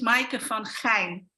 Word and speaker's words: Maaike van Geijn: It's called, my name is Maaike van Geijn.